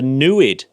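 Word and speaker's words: NEID: and she pointed out the newid which rhymes with fluid the newid no it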